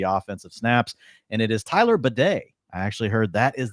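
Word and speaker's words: Tyler Badie: 59% of the offensive snaps and it is Tyler badet I actually heard that is the correct pronunciation from today so yeah prayers up to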